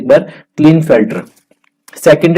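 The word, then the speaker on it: Klinefelter: ठीक है, प्रोनाउंसिएशन आप देख सकते हैं एक बार, क्लिनफेल्टर।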